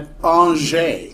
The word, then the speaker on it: Angers: So internal evidence indicates that the poem it was a poem originally was written at an which is a French town that's spelled like angers but it's pronounced an so if I'm like